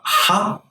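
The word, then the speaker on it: ح: This may be confusing to you, but ha is different from he. Ha is deeper than he. It's guttural from the throat. So imagine pronouncing he with the air coming out of your mouth, but you have to cut it like hai, the hai sound.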